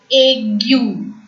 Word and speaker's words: aigu: Acute accent is called as accent aigu. AI in French is pronounced as A, G, G, U as usual U.